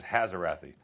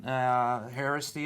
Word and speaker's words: Haraszthy: not even try because my name's 12 letters, Haraszthy. Haraszthy. You butchered it.